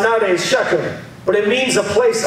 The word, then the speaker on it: Shechem: next place he goes is the place called Shechem it's pronounced in the old school Shikha Sikkim and is pronounced nowadays Shechem but it means a place of promise it